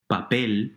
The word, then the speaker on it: papel: Papel, paper, and reloj, clock, are 2 other examples of aguda words.